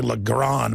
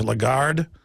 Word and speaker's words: Lagarde: think pronounce her name I always say look Garron but it's Lagarde the point is is